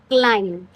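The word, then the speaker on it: klein: क्लाइन। आइन की आपको ध्यान से प्रोनाउंसिएशन सीखनी है। ठीक है? आई। आई प्रोनंसिएशन होती है इसकी। आई। ठीक है? तो ये हो गया क्लाइन।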